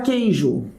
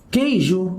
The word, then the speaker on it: queijo: A palavra queijo. Queijo, galera, eu tenho o Q e o U aqui. O Q e o U. Quando eu falo queijo, eu não pronuncio o meu U.